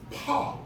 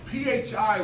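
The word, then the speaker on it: φ: Over time, in Koine Greek, Koine meaning common or shared Greek, phi began to be pronounced as an F, or should I say this, pa began to be pronounced as an F sound when it was originally pronounced as a pa sound. PHI was not phi, it was pa.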